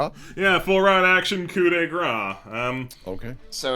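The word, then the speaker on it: coup de grâce: Oh, pronounced coup de grace, it says, to a helpless opponent.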